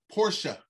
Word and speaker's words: Porsche: of the engines yeah listen horse porsche that's how you say it porsche is iconic and